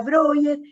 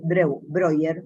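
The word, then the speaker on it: Breuer: de Freud yo Joseph broger se pronuncia broger es apellido en alemán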